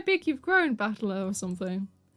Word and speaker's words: Battler: The problem is my given name is made up of the characters of fight and person, and it's pronounced battler.